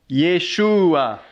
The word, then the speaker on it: Yeshua: là vous avez ici comment ça se prononce Yeshua ça s'écrit même en